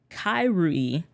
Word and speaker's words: Kairui: The pronunciation is Kairui. The I is pronounced with an E.